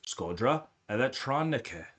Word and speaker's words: Shkodra Elektronike: And it's Shkodra Elektronike, pronounced as Shkodra Elektronike.